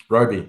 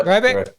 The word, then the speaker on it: Robey: Now I want to make sure too is am I pronunciation's right? Is it Robi? Robi. Yeah, Robi.